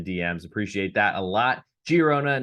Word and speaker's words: Girona: appreciate that a lot giarona not the g as an h in spain as i like to pronounce names and cities of or towns as correctly as possible giarona hosting viado lead girona